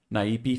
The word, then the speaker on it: Naipe: I'm going to pronounce it like it's Portuguese. Naipe Foundry.